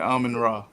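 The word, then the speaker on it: Amon-Ra: Ain't that how you pronounce his name? Yeah, Amon Ra.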